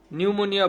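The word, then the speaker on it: pneumonia: নিউমোনিয়া বানানের আগে প্রথমে হচ্ছে পি বসে, পি, নিউমোনিয়া।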